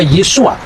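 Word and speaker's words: Yeshua: Yesus ketika dia orang Yahudi dia pasti membaca yesua yang percaya bahwa Yesus itu Mesias pasti membacanya yesua hamasiah nah yesua ha masiah itu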